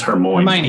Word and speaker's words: Hermione: That's Hermione.